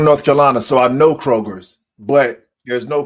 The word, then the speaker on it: Kroger: for 40 plus years it's Kroger not Kroger just one it's one but I know they